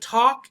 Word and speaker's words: talk: here t a l the l and talk is kind of silent some people will say talk talk you hear the l other people know talk ah talk like tick-tock right talk so here mimi's